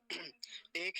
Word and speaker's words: एक: है एका वृंद एक अब इसको भी गलत बोलते हैं इसको एक बोलते हैं जैसे हिंदी में हम एक बोलते हैं यह हिंदी नहीं है ये संस्कृत है तो एक वृंद ऐसा नहीं एक क्योंकि ककार पूरा है अगर यह ककार जो